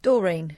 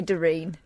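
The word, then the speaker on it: Doreen: How do you pronounce this name? D O R E N. Dorine. Dorine. No. You don't say Darin. I've got an auntie Dorene. She wouldn't respond to Darene.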